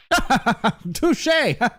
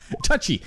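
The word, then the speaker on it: touché: Touche. Touchy. It's pronounced touche.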